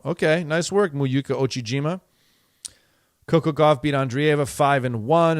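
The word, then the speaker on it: Miyu Uchijima: Muyuka Ochijima. Okay, nice work, Muyuka Ochijima.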